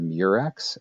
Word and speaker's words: murex: The mollusk is called the murex, M-U-R-E-X. Sometimes it's spelled M-Y-R-E-X.